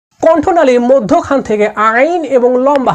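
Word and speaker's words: ع: তো আইনকে কেমন করে পড়তে হবে? আইনকে কণ্ঠনালীর মাঝখান থেকে একটু চেপে উচ্চারণ করতে হবে।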